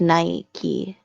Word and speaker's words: Nike: So Well, and it is pronounced Nike.